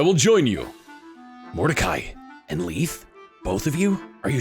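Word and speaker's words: Lethe: up the pronunciation because I was pronouncing it like the Greek River of Mythology that erases memories when in Fire Emblem Heroes she pronounces her own name and it's LEF not Lethy Ike here's a summary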